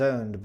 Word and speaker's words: owned: Y cuando lo pronuncias, hay que marcar bien la D al final. Owned. Con la D ahí al final.